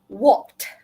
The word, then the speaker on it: walked: Walked. Kena bagi bunyi deh tu. Kalau tidak, dia sama dengan walk sajalah.